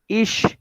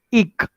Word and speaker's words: ich: The people will say ish, or generally in some villages like Düsseldorf or like these villages, they are the pronunciation is like ik, right? Ik or ish, both are same, but not apart from this anybody will pronounce. Okay, so there are only two things, but now we will follow ish.